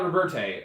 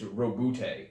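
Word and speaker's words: Roboute: It's not Roberte, unfortunately. It's Robute. Rabute.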